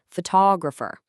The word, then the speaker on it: photographer: Think about the word photograph. When we talk about the picture, the stress is right at the beginning, photograph. But when we talk about the person taking the picture, the stress literally jumps. Photographer, that one tiny shift in emphasis completely changes the word.